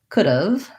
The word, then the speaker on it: could've: as u v of it has a schwa and a v sound and so if i think about could've could've maybe if you see it written this way it'll be easier for you to pronounce it correctly once i can say